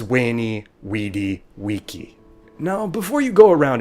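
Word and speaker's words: veni vidi vici: said wing cate and why caesar's phrase was wayney weedy wiki now before you go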